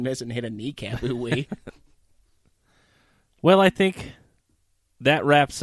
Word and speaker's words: ooey: That is OOOWEEE. Pronounced ooh-wee.